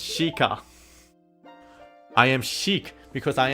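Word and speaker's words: Sheikah: my people that are known as a shika and pronounce shika I am shik because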